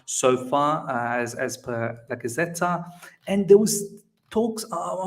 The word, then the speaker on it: Gazzetta: Gazzetta. Is that how you pronounce it?